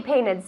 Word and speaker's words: painted: Whichever you prefer, it's that the E must be pronounced.